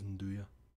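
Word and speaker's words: 'nduja: Both of the ones they do a nice one that's I never know how to pronounce it. Nduja? Nduja? Pretty sure it's Nduja.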